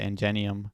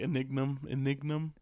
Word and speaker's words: Ingenium: We learned that he's related to Ingenium. That's about it. Is it Ingenium? I guess that's how you say it. Yeah. I say like Enignum. But it maybe Ingenium. This was just a dope name, by the way.